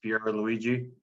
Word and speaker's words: Pierluigi: go by Pier but my actual name is Pierre Luigi uh Ramirez and I do a lot of